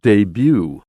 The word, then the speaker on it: debut: word earlier this month debut d-e-b-u-t and that t is not pronounced in english so uh when you